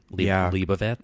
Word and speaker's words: Leibovitz: And I remember she did Annie Leibovitz. Is that how you say it? Yep. Leibovitz.